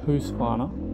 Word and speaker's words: Husqvarna: so rockstar energy husqvarna sorry who's finer that's the correct way to pronounce it i've been saying it